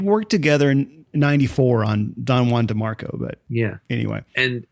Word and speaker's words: Don Juan: But because of the rhyme, the poem suggests that it's pronounced Juan for the rhyme to work.